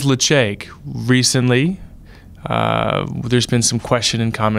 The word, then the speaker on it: Ledaig: It is Ledaig. Recently, there's been some question and comments over the pronunciation. It is Ledaig, and we are huge fans.